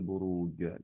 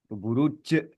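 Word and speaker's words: بروج: Ketika masih becek buru je, buru je gitu kan ya atau jajubaj gitu kan ya. itu sebetulnya lidah ujung yang kita ucapkan jajijubaj itu tapi ketika pengucapannya lidah tengah dia pengucapannya mestinya jaji juubaj jaji juubajan ya buruj gitu mestinya seperti itu enggak becek gitu ya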